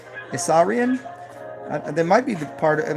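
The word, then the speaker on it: Isaurian: III the Assyrian and well not like you'd spell it ISS is a u r i a n assarian they might be part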